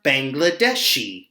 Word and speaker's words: Bangladeshi: Although it's a letter I, we pronounce it like a letter E. People from Bangladesh are Bangladeshi.